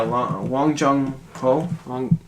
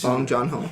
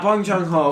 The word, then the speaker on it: Bong Joon-ho: Oh yeah, Wong Jung-ho. Whoever directed Snowpiercer. Yeah, it's Bong Joon-ho. Yeah, Bong Joon-ho.